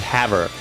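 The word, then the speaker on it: Havre: was renamed, it's probably Hav. I'm thinking it's probably Hav. We always pronounced it Hav, but since it's French, Hav to decide on a new name, the town held a meeting.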